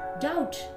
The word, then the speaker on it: doubt: B is not pronounced in these words. B चा उच्चार या शब्दांमध्ये केला जात नाही. Bomb, climb, comb, crumb, doubt, dumb, lamb, plumber, numb, thumb.